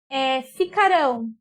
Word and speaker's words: ficarão: Percebam aqui, ó, ficarão. Ficarão. Quando ela está no futuro, o que acontece com essa palavra? Qual que é a sílaba forte nela? A última. E se é a última, ela é oxítona.